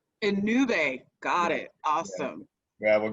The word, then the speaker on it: Ennube: start with you first just in case i mispronounced the name of your business no worries it's a new bay and new bay got it awesome yeah well great to see